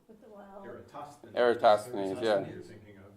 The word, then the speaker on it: Eratosthenes: declination of the Aristotle Aristophanes how do you pronounce it Eratosthenes forgive me I'm not Greek I don't speak